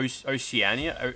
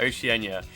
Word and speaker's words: Oceania: OCE is like O Oceanania, Oceanania. I don't know how you pronounce it.